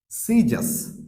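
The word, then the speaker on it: scissors: ওয়ান is silent C silent C অর্থাৎ সি লেটারটা কোথায় উচ্চারণ হচ্ছে না তার মানে এস সি যখন মানে এস আর সি যখন ই বা আই এর আগে থাকে মানে এস এবং সি ই এর আগে থাকলে আমরা সেই ক্ষেত্রে সি এর উচ্চারণ করছি না বা সি এর উচ্চারণ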